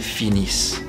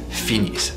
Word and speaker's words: finissent: But when it's actually the termination of a verb, it will be sounding like a E. Ils, elles finissent.